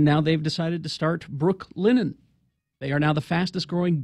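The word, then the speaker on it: Brooklinen: to tell you about Brooke linen sheets I got to be careful not to mash that together because it sounds like I'm saying Brooklyn won't you spell it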